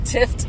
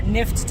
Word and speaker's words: Tift: Hey guys, we just finished lunch and we're on our way to the preserve, to the I'm saying it wrong again, Tift Nature Preserve. Not Nift Nature Preserve.